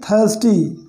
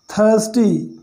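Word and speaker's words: thirsty: थर्स्टी, थर्स्टी यानी प्यासा, तो इसको हम थिर नहीं पढ़ेंगे, थिरस्टी, थर्ड। यहाँ पर एक्चुअली क्या हो रहा है, आई का उच्चारण आ हो रहा है, आ था, जैसे टी एच का हो गया था, आई का हो गया आ, थर्स्टी यानी एक प्यासा,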